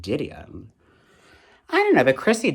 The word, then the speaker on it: Didion: I always pronounce it Didion. But, you know, people pronounce it Didion.